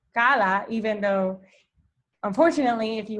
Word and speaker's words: CALLA: english through content so kala stands for the cognitive academic language learning approach it is pronounced as kala even though unfortunately if